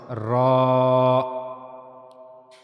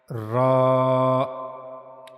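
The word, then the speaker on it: ر: You have to connect the tip of tongue to the gum. So that's how you can easily pronounce raw raw. So you have to use this part of your tongue and it will connect to the this part not to the teeth but to the gum. So that's how raw will be pronounced. Raw. Say it again. Ra. And make sure while reading raw that your voice should be bold.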